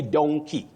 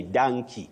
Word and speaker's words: donkey: You say donkey. It may sound unique or stylish for some people to say donkey. But that O simply takes its sound O, not A. You say donkey, but we have monkey.